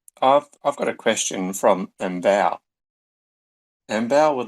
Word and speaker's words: Mbow: Sorry, I butchered the pronunciation again. It's Mbow.